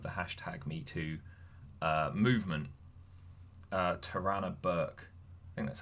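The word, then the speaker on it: Tarana: the founder of the hashtag me to movement tirana Burke and that's how you pronounce her name she she takes to Twitter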